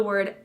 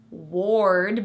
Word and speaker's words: word: Also the word bird uses the sound. The O in word is another R-colored vowel. Word, not ward, but word.